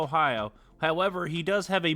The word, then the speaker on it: Ohio: Is there some interesting pronunciation here? Hold on. No. No, it's it's Noah Ohio.